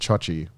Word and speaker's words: Joji: Because my name's spelled Joji, Yeah. but pronounced Chochi.